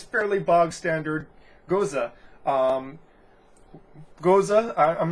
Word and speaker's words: Gose: and that is the Gose style. I pronounced it Gose last time, but I've been told that it's pronounced Gose.